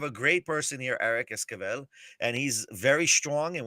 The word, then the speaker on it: Esquivel: I just, Esquivel. say it again. Esquivel. Am I Esquivel. pronouncing that right? Am I doing good? Yeah, that's pretty close. Yeah, it's Esquivel. Yeah. Okay. Esquivel.